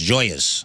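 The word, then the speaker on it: Gioia's: And I go, look at how it's spelled. What do you think? It's spelled Gioias. And it's pronounced Joyas.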